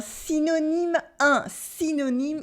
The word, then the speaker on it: synonyme: For example, in un synonyme, it makes a normal sound I, like the French I, easy.